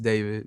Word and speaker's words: D4VD: Hello, my name is David, pronounced David, not D4VD.